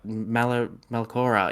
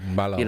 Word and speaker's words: Mallorca: So if they want to complain about how much games they can play, go play for bloody Malcora in Spain or something and earn, Mallorca. That's the one.